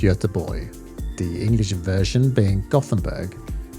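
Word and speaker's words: Göteborg: Tucson means a thousand and er means Ireland pronounced as Tucson ER the team and watch hails from a place called yada boy the English version being Gothenburg and this is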